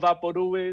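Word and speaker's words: Vaporú: you don't know what vaporu is um context clues you'll figure it out by the end of the poem this poem is no vaporu papodu is pronounced vaporu like loud or chew the label for vaporu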